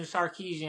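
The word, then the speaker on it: Sarkisian: now like have a a great coach in sarkeesian I always mess his name up no you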